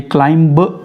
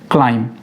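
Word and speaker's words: climb: ये क्लाइंब नहीं है, ब नहीं पढ़ना है इसमें, क्लाइम।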